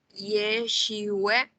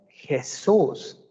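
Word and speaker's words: ישוע: ¿Cómo debería pronunciarse el nombre, por lo tanto, del Hijo, sabiendo cuál es el valor fonético de cada una de sus letras? ¿Alguien que se anime a pronunciarlo? Tenemos alguna mano levantada. Tenemos a, bueno, Abigail creo que la dejó levantada hace rato. Araceli, quizás. Puede decir Yeshua. Exacto. No es Jesús.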